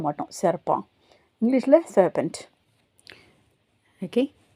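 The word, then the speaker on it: serpent: சர்ப்பா பா என்டின்றது பா இந்த கடைசில இருக்கற டி வந்து உச்சரிக்க மாட்டோம். சர்ப்பான்.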